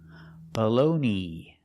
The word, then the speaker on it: bologna: Baloney. The last vowel is a long e, like green beans.